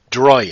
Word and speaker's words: Dreoilín: Dreoilín. You have to kind of roll the R a bit, and the fada over the last I makes an E sound. Okay. So it'd technically be Dreoilín.